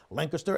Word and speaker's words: Lancaster: Now, that's because there's an air quality alert up towards the Lancaster, say it correctly, Lancaster and Philadelphia area up there towards New York, just north of our area.